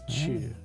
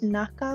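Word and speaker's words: 中: Usually we'll have chu if it's written inside a 2-part kanji, like chugoku.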